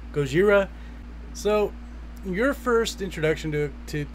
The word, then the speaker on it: Gojira: And of course, saying Godzilla is actually the whitewashed American way of saying it. It's actually Gojira, I believe, how it's originally supposed to be pronounced. Yeah, it's Gojira.